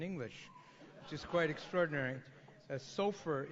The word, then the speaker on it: Sofaer: Sofer is not so fair.